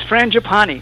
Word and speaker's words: Frangipane: get it right away it's frangipani ha ha it's like the flower and it's so funny